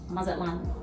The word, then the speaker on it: Mazatlán: I'm country, so you might hear me pronounce it that way, but it is pronounced Mazatlán.